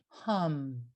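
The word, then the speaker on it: ham: The mantra is hum. It's spelled H-A-M, but pronounced H-A-H-M, hum.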